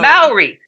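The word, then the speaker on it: Māori: How do you call the native people of New Zealand? Maori. That one's hard for me. Maori. I think Maori. Maori.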